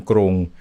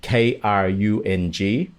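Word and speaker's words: กรุง: Got so Charoen Krung. And if you say it like that, you'll get it. It all comes down to this aspiration as well. If people see Krung, many will say Krung as well.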